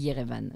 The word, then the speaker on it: Erevan: E-R-E-V-A-N. Et on dit Yerevan, mais c'est Erevan, je sais pas comment ils le disent en français.